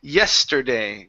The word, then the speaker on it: yesterday: go to the word yesterday give me that why s are sorry the st here so it's yester yesterday yesterday they bought it yesterday they